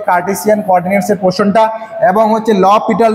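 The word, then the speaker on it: L'Hôpital: Next তোমাদের পড়তে হবে কার্টেসিয়ান কোঅর্ডিনেটসের পোর্শনটা এবং হচ্ছে ল পিটাল রুল বা এল হসপিটাল রুল, অনেকে উচ্চারণ করে কিন্তু এটা হচ্ছে এল ল পিটাল রুল।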